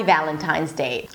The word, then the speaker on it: Valentine's Day: So it's not Valentine's Day. Don't separate it. Valentine's, right? So you're actually pronouncing the Z and then you're blocking it with the D. Z day. Happy Valentine's Day.